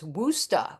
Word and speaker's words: Worcester: So, we'll start with Andrew K, who uh is correcting me on my uh pronunciation of your town. He Andrew says it's Wora. Woo, Mass. Yeah, Worcester.